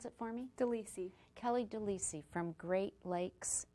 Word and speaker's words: DeLisi: her name is Kelly Kelly your last name pronounce it for me Deli Kelly Deli from Great Lakes Caring um Hospice